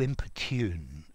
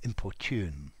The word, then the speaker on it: importune: importune okay i notice i've also actually heard this pronounced as importune as well but i would say to in-pertune or importune um okay let's see